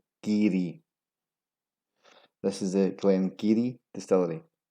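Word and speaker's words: Garioch: This has an insane amount of mispronunciations. Garryock, Garryock, Garroic, and Garryock. The real pronunciation is Geary.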